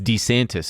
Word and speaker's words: DeSantis: After By the way, it's DeSantis, apparently. That's how he pronounced it himself, his own name.